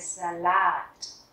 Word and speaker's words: Salat: Der Salat, der Salat, trọng âm rơi vào chữ A cuối, chúng ta sẽ đọc art. Der Salat.